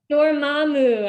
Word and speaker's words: Dormammu: Dormammu, I think is how they say it in the movie.